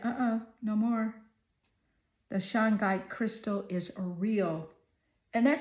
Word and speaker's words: shungite: The Shangite crystal is real. And that crystal name is spelled S H U N G I T E.